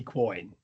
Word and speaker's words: quoin: Spelled Quoin. I love that. These are homophones. They're not quasi. They're not quasi. Well, they can be. Quasi. They can. I think this is a semi. It's a semi-quasi because coin could also be coin. Well, it sounds to me like it's a real homophone.